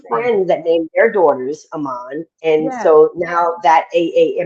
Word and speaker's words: Aamon: spell it differently so well interestingly enough phonetically it is aan okay um but it's pronounced Aman so yeah so phonetically